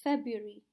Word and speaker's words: February: silent for the month February the R after B is silent and another word that